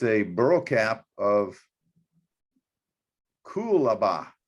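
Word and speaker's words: coolabah: a burl cap of cool aba i think that's how you pronounce it c-o-o-l-a-b-a-h is how it is but this is what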